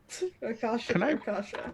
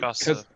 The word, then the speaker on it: Rakshasa: Rakasha. Can I religion check that? Is he missing an S there? That's what I'm wondering. Look, you can pick on my pronunciation all day. I'm- Rakasha? Okay, Rakshasa.